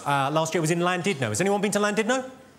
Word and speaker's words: Llandudno: This guy, front and centre, where you're sitting there, face like fucking thunder, went, it's not Llandudno, you bloody fool. It's Llandudno. In Wales, the double L is pronounced with a C.